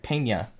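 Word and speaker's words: Peña: Dominguez non autos pain yeah it's not Penta alright Pena just dice me every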